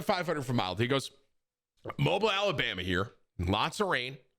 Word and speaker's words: Mobile: down here is that when I call that place Mobile, people get mad because I pronounced mobile my whole life, mobile. And so down here, I say mobile, and they go, no, mobile.